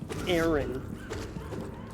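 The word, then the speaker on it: Arin: It's spelled with an A. It's Aaron. A-R-I-N.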